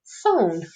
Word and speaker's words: phone: Here I've got the O, N is my consonant, and the silent E will jump back. So now I have the word phone.